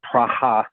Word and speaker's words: Praha: take a pass as Praha. It's the local way of saying Prague, so Praha, and maybe haha.